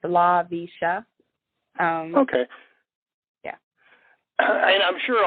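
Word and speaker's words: Laveesha: It's, I'll spell it for you. It's L-A-V as in Victor, E-E-S-H-A. It's LaVisha.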